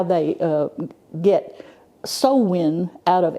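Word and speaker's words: Samhain: don't understand how they how they uh get sowin out of s ha a i n but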